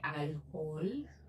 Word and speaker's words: alcohol: La combinación del ansiolítico con el alcohol, não é álcool, é alcohol, tá? O tom é nada. Não é a primeira sílaba.